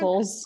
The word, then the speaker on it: ossicles: Oh God, how do I pronounce that word? Ossicles.